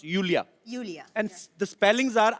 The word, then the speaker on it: Iulia: pronounce Yulia. Yulia. And the spellings are IULIA. LIA. So I Thank क्यों God मतलब? you know. I mean, why I? God. Everyone is calling me Lulia. Lolia.